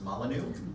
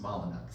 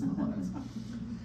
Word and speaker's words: Molyneux: incredible British designer Edward Molyneux. I know most of you, when you see his name, think it's pronounced Molyneux. It's not. He always said it's a good English name, it's pronounced Molyneux.